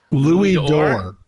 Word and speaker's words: Louis d'or: That's How's that pronounced? Louis d'or.